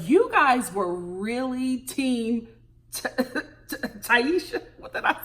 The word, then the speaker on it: Tayshia: It's Tayshia.